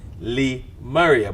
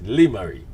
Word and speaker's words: Lymari: RI e Maria in my mind I got Lee Maria but it's Lemuria so it's a pleasure to have you on